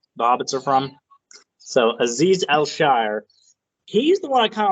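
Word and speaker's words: Azeez Al-Shaair: uh last free agent we'll go over is Aziz al-shire and that is how it's pronounced because it looks weird but I heard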